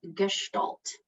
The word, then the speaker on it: gestalt: just going to say it for you so gestalt hopefully uh there's a bit of a in